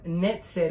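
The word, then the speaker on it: נצר: cuando cambiaron todo y es por eso que nosotros usamos la pronunciación netzer y para enfocar en raíz de las palabras que es netzer claro vamos a seguir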